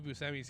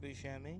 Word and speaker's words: Buscemi: Yeah, dude, he's Cyrus the Virus, and then whatever Steve Buscemi's character is.